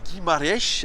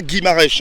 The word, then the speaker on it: Guimarães: pour le joueur Bruno Guimaraes. Alors, Ouais. c'est comme ça que ça Il se s'appelle prononce. pas Guimarães, hein, c'est vraiment le nom de famille.